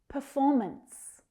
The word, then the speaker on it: performance: Performance, performance. Make sure that second syllable is stressed. Performance. And don't forget that last consonant sound.